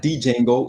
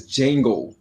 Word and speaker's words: Django: Django, not D Django. It's Django. The D What the is fuck they put the D in there for? because it's silent. He said it in the movie. Like the D is silent.